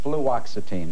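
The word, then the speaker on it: fluoxetine: How do you pronounce this? Fluoxitine. Fluoxitine.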